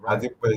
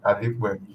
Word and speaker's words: Adipa: Adipa is the pronunciation. It sounds more like Okay. the I is like E, Adipa.